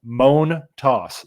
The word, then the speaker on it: Montas: everybody who's interested uh the pronunciation I went back and listened to his uh postgame press conference from opening day U moan toss so you know that though like a groan moan and then you're tossing